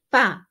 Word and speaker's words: pas: Je n'ai pas, there is a S, you don't pronounce it, joué au tennis.